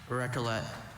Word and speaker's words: recollet: Maybe the alternative pronunciation of recolle helped him realize that was just E and not ET t at the end of that one.